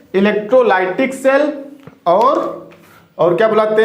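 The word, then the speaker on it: electrolytic: इलेक्ट्रोलाइटिक, कुछ लोग इसको इलेक्ट्रोलिटिक भी बोलते हैं, मैं भी इसको इलेक्ट्रोलिटिक ही बोलता हूं। वैसे इसका सही प्रोनाउंसिएशन तो इलेक्ट्रोलाइटिक है, बट कोई ना, इंग्लिश तो आपको हम सिखा नहीं रहे हैं।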